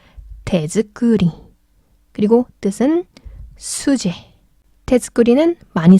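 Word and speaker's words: 手作り: 그래서 테츠크리 발음 힘드니까 테즈크리.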